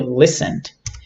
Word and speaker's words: listened: next one is listened we don't know the T here so we say only listened listened and listened with